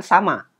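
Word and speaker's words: 様: Bila versi yang lebih sopan, kata nin tadi, itu kita ganti dengan sama. Huruf kanjinya seperti itu. Ya. Sama, ini bacanya sama.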